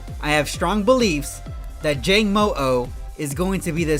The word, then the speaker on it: Jangmo-o: is the dragon Pokemon Jangmo-o. I believe is how you pronounce its name. Not sure exactly. Jangmo-o.